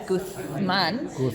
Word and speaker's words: Guzmán: Guzmán and of course in Castilian it's Guzmán. Yeah, and there were people who watched who said like, "She says it funny. She doesn't say it right." And I'm like, "Y'all, she is Spanish."